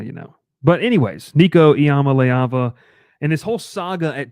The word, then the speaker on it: Iamaleava: Nico Iamaleava. Is that's the pronunciation that I've found like 15 different times.